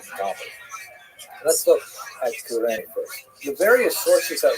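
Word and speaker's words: Κυρήνη: I looked it up and I've heard it pronounced as Cyrene in English. In Greek, it would have been something like Kurene. So I'm probably going to say Kurene, and I'll probably be wrong, but this wouldn't be the first time.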